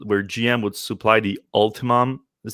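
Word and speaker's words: Ultium: a supply deal where gm would supply the ultimum is how you pronounce it all of them on the gm's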